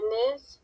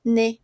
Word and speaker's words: nez: Ouais, d'accord, tenemos le visage de Nam, la bouche de Fatou, ça va, le nez, ok? On ne prononce pas Z.